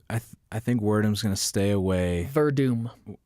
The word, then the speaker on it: Werdum: Verdum. I Sorry. say Werdum because that's how it's read. WRDUM, yeah. All right. I think he's the going phonetic pronunciation.